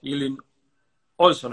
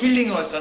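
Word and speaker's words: Hilding Ohlsson: Y bueno, mi nombre es Luis Quinelli, y nos acompaña también Ilin Olson. Está bien preguntado? ¿Sí? ¿Está bien pronunciado así tu nombre? Es Hilding Olson, es más fácil.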